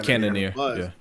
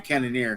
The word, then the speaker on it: Cannonier: Like, but that's what I'm saying with this guy that fought tonight, and again, I can't pronounce his name. Cannonier. Thank you, Cannonier.